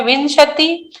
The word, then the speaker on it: विंशति: तासु 63 पंच विंशति, वी के ऊपर बिंदु है तो न का उच्चारण आएगा, उसके बाद में श है।